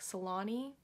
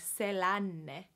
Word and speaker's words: Selänne: a sound instead of in America I think I heard his name kind of problems like Salani salami but it's like Ceylon say lon Ceylon make sure you get that sound in there if you want to sound super finish so like demo Ceylon say lon Teemu Selanne alright and then we